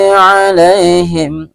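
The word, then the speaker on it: عَلَيْهِمْ: Alai ini juga disebut dengan mad lain, dibaca juga sekedar lunak atau lemas saja, ya. Alaihim, mim berjumpa dengan wa, ya. Alaihim wala, ya, mim sukun berjumpa dengan waw atau wa.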